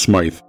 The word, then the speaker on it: Smith: One of the few landmarks along Smith Road, which today is usually pronounced Smythe, was the farmhouse of Thomas and Ida Saunderson.